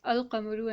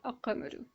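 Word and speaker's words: القمر: It's al-qamaru and not a-qamaru. And over here we have a shamsu. Why? Because well, sheen is one of those letters that possess this Laam-e-taareef silencing capability.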